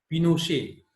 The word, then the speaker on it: Pinochet: General Augusto Pinochet pronounced Pinochet, an army general led a coup.